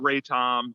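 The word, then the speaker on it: RATOM: The BitCurator project predated, now is it all initials or do you call it R-A-T-O-M? How do you pronounce it? Oh yeah, it would be, we call it Raton, and it's okay.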